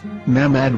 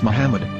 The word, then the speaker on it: מחמד: Muslim prophet, or as Mamad with no A after the H. According to Ben Yehuda's Hebrew English Dictionary, it is correctly pronounced as Muhammad, not Mamad.